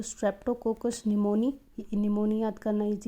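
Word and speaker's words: pneumonia: disease तो पहला है निमोनिया इसमें पी साइलेंट होता है तो यह निमोनिया है जो कि बैक्टीरियल डिजीज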